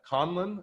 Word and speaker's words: Conlon: but i feel like i stumbled but uh conlon is that right that's correct conlon yes all right um and rob is for